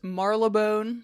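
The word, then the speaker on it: Marylebone: he is a scorpio man oh my in i looked up how to pronounce this marla bone a section of london's west end i hope that's correct i try to write it phonetically by the 80s he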